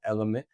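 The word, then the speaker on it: LMNT: I use what's called element. It's spelled L M N T.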